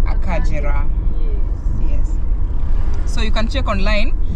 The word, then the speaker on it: Akagera: written a kagera but in kinyarwanda it's pronounced as akajira so you can check